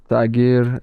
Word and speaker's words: Tagir: It's Tagir. Tiger, is that how you say it?